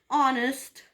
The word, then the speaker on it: honest: for that matter and honest man so here also H is silent so in this word